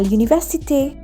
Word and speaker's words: université: Then à l'université, it's pronounced as one with A sound at the end because we have an accent. So altogether, I'll pronounce it as Je suis étudiante à l'université.